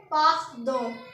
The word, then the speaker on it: pardon: उसके बाद पार्डन, PARDON, इसकी प्रोनाउंसिएशन होगी PAHRDOHN। तो इसको क्या पढ़ेंगे? पार्दों।